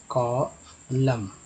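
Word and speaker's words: column: यहाँ पर दोस्तों कॉलम, कॉलम। ठीक है, यानी एम का उच्चारण यहाँ पर हुआ है, एन का नहीं।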